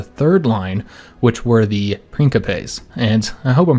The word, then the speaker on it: principes: line which were the principes and i hope i'm pronouncing that one right because again i think the c is is supposed to be that k sound so the princopez were the the main